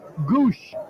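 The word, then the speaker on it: Gwosdz: though gwos DZ is the spelling but it's pronounced Goose well his nickname is eye chart and you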